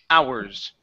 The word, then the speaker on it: hours: In this word, the H is silent. So we do not say how. The word is hours without the H. Ours.